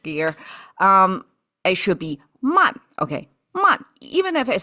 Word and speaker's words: 曼: No, man is English. I was kind of for a moment of flipped to my language gear. Um it should be man.